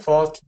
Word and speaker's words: faulty: down fall T faulty faulty now on this one this one is definitely a t sound faulty faulty all right